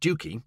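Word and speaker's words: Stiffkey: 1932 the middle-aged Rector of stiffy pronounced stuki locally had provided the British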